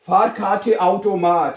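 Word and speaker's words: Fahrkartenautomat: बताइए जी सोच ले आप थोड़ी देर हम बताइए फार खाटे आउटोमाट यस क्या कहते हैं? फार पहले पढ़ना है फार फिर काठे फार खाटे आउटोमाट आउटो माठ हैं।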